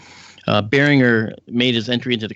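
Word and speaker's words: Barringer: in fact behringer are they call them bearing earth you know they don't it's not a soft G bearing her made his entry into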